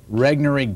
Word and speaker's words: Regnery: planet is put out by how do you pronounce it rig Nuri Regnery gateway yes where are they located here in